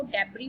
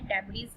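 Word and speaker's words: debris: यहाँ S silent है students, S silent है, आपने इसको डेब्री प्रोनाउंस करना है, डेब्रीज नहीं करना.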